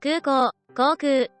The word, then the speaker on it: 空港: 발음은 각각 空港、航空、 입니다.